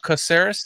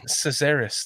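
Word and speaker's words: Casares: second or third oner ceris that's how you say it oh ceris sorry thank you I always thought it was cesaris like like like Caesar like this halis did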